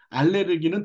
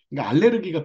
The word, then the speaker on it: 알레르기: 알러지나 알레르기나 똑같은 얘기에요 알러지는 미국식 발음이고 알레르기는 독일식 발음입니다 고차에만 있는 거예요 우리나라는 의학적으로 원래 이제 독일식 발음을 사용하는 것을 표준어로 하고 있는데 알레르기가 표준어죠 근데 이제 최근에는